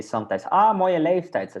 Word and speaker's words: leeftijd: So this one we make a bit long. Ja. Leef. And here we put a T at the end. Leeftijd. Leeftijd.